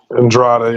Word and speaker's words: Andrade: Andrade, yeah.